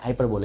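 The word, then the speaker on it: hyperbole: Endless fountain, कभी ना खत्म वाला फाउंटेन से बोलते हैं हाइपरबोल, लेकिन मैं से बोलता हूँ हाइपरबोले, प्रोनाउंसिएशन है बोल, लेकिन मैं बोलूंगा क्या हाइपरबोले।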